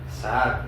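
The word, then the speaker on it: זעק: Pero acá la palabra es la palabra hebrea sac do A, acento en esa segunda a y una c final. Saac.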